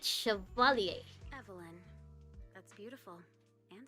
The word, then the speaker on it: Chevalier: Chevalier. That's how you say it, Chevalier.